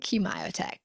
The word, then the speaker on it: Kmiotek: And with her, we have founder and CEO of Kmiotek, advisor and consulting, Miss Kathryn Kmiotek.